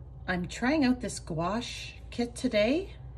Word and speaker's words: gouache: I'm trying out this gouache kit today if you're not sure how to say it think of squash that's what I keep reminding myself so um what I've